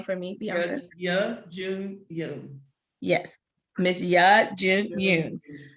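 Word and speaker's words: Youn Yuh-jung: Please pronounce her name for me, Bianca. Ya Jun Yoon.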